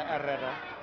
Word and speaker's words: Herrera: I feel like my Spanish pronunciation is not too bad. Just drop the H's rolling out, I can do this. But when your name is Herrera, it's a little bit tough, but I managed to get myself there.